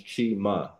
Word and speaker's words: Chima: And respectfully, the way you pronounce my first name is Chima.